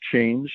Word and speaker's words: Chanje: So yes, it's just pronounced change, as in the regular word change with a G in English, but it is spelled with a J just because we like to be different.